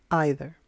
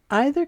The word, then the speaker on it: either: Either. Either can be pronounced either or either. Both pronunciations are correct.